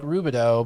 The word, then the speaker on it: Rubidoux: And he's like, Rubidoux, but we pronounce, it's spelt with the, O-U-X at the end.